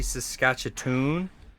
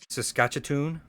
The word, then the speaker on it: Saskatchewan: It's actually Saskatchewan. That's how it's pronounced. Saskatchewan.